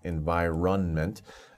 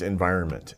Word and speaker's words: environment: the plants grow up environment notice how I pronounce environment uh to for spelling n m but don't pronounce it like that it's environment environment um so environment is that same as